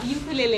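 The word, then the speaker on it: ukulele: Ma'am से, ma'am ये पहले तो मैम इसका प्रोनाउंसिएशन क्या है मैम? यूक्ले या मैम यूक्ले, मैम क्या? यूकेलेले, इसका नाम है यूकेलेले।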